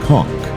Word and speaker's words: conch: The undisputed king of the kitchen is the conch, pronounced conch.